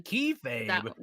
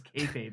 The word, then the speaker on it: kayfabe: Keyframes. Get out of here. Oh wait, did I say it wrong again? It's kayfabe, isn't it? I'm so it's kayfabe, you asshole.